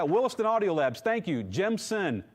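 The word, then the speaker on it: Gemsen: Gemson, not Jensen. So, hopefully I pronounced that good enough. It's not Jensen, it's Gemson, g e m s e n.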